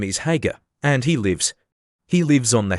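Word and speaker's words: Haigha: His name is Hager." He pronounced it so as to rhyme with Mayor.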